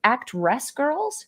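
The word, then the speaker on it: Actwres girl'Z: I believe the pronunciation is Act Res Girls. It's like the word act, WRES from wrestling, and girls with a Z.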